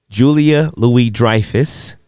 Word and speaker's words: Julia Louis-Dreyfus: Julia Louis-Dreyfus.